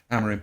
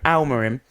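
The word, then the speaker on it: Amorim: Amarim. Almarim.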